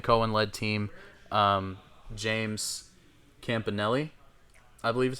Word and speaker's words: Campanelli: Um James Campanelli, I believe is how you pronounce his last name. Defensive coordinator. Campanelli.